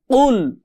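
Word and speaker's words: قُلْ: এই কফের উচ্চারণ হয় গলার মধ্যে ধাক্কা দিয়ে, কুল কুল, এরকম একটা ধাক্কা গলার মধ্যে দিয়ে, বা আমাদের জিহ্বার যে মাঝখানের পিঠ আছে এটা উপরের সাথে বাড়ি খেয়ে আমাদের এই কফটা উচ্চারণ করতে হয়।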